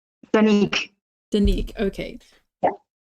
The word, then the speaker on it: Danique: Sometimes I say Danique and sometimes I say Danica. How do we say your name? Danique. Danique, okay. Yeah. So like a silent E on the end.